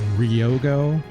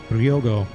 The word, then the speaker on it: Ryogo: I've been saying Ryogo. It's a very Americanized way to say it. It should be Ryogo. It's like you say the Ryo much faster, right?